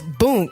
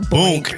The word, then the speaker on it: Boonk: He's like it's Boonk. It's not Boink. Boink. That is. I said I told you I'm old. Yo, you are a fucking. How do you spell it? It's it's B. It's like Boon, but Boonk.